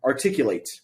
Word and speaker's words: articulate: this case we have the word articulate articulate late is the um the stressed syllable it is the most